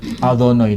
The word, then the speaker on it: Adonai: Saya baca Adonai karena di sini tertulis sebetulnya kalau dibaca itu Yehwah, ya. Tapi nggak boleh orang Yahudi membaca Yehwah. Dia bacanya Adonai, diganti karena itu nama yang sangat suci.